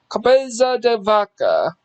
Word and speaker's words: Cabeza de Vaca: answers advance discover of south america's uh what's cabeza de vacca sorry if i butchered the pronunciation but i think it is pronounced cabeza de vaca visitavaca i'm a big stickler for pronunciation if